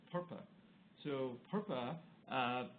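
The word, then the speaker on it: PURPA: that had a horrible acronym some people think rhymes with verp it's called perpa so perpa uh said among many other things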